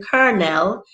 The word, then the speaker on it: colonel: a formerly mentioned ruffian colonel in in which neither o behaves properly and the second o doesn't even bother to try so in kernel the